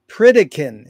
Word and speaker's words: Pritikin: for inviting me to Our Guest today Greg pritikin is that the right way to pronounce it absolutely Greg where in the heck